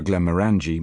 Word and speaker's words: Glenmorangie: I ask for Glenmorangie malt whisky, stressing the third syllable of the name, even though I happen to know the head man there stresses the second, because a rational being